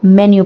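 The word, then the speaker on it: menu: order कर सकते हैं सो we pronounce it एज मेन्यू नॉट मीनू मीनू नहीं बोलते हम उसको मेन्यू प्रोनाउंस करते हैं मेन कोस सच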